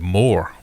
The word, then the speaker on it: Moor: it spelled and pronounced if you're from Sheffield you say that more the word is spelled m-o-o-r so I got on